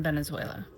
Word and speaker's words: Venezuela: was going on in Venezuela, or Venezuela is how they say it.